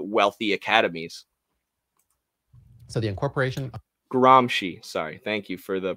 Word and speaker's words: Gramsci: neo-marxists were cia or or cia adjacent and gromski wrote his stuff from prison not from the wealthy academies so the incorporation gramsci sorry thank you for the pronunciation help of